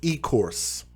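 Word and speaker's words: Ecorse: the kingdom of mind and said it's pronounced e-course so e-course michigan failed these kids it's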